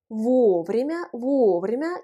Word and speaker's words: вовремя: Вовремя, qui s'écrit ensemble. L'accent tonique frappe la première voyelle O, вовремя.